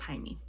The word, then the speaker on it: Jaime: I'm saying Jamie, but I'm pretty sure it's pronounced Jaime.